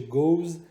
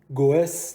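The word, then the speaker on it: goes: مثلاً دو میشه داز گو میشه گوز گوس نمیشه میشه گوز گو میشه گوز رفتن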